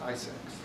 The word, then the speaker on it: ISAC: And one of those measures that they recommended was the creation of industry sector organizations called Information Sharing and Analysis Centers, ISAC, pronounced ISACs.